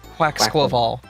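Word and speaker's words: Quaquaval: Quacklaval. Thank you. Quacksquavel. Yeah, like Quacks- carnival. Yes, Quacksquaval.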